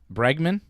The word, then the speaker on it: Bregman: I know Bergman made it. Bregman.